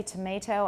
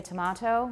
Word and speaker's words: tomato: so you're consistent okay you say tomato I say tomato you've heard the song potato potato tomato tomahto let's call the whole thing off yeah we so good